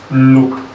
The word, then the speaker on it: lop: It's pronounced as loop in Ogoni language, Kana to be precise. Loop is spelled as LOP. There's an hyphen on the O. To make it loop.